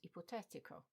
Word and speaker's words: ipotetico: For example, in that initial list we have energetico, energetic. It follows the same pattern, as does hypothetical and ipotetico, but they also have the same ending.